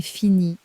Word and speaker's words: finie: It takes one extra letter at the end, and that letter is completely silent.